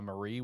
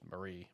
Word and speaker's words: Marie: the main villain uh Marie which they pronounced I think Mari is how they pronounced it but it's lit English or Japanese I'm listening to it English they pronounced it Mari I think but it's literally just Marie but anyway uh yeah